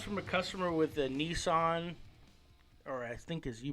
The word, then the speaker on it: Nissan: This one comes from a customer with a Nissan, or I think as you pronounce it, Nissan.